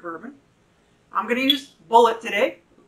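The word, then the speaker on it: Bulleit: i'm going to use bullet today how do you pronounce it how do you pronounce it folks you should know like the ammunition son okay so i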